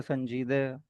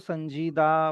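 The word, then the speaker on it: سنجیده: Example के तौर पे संजीदे, या अब वो क्या है, उर्दू में उसको संजीदा प्रोनाउंस करते हैं, लेकिन अगर आप फारसी में पढ़ेंगे तो उसको संजीदे ही पढ़ेंगे, संजीदा नहीं पढ़ेंगे।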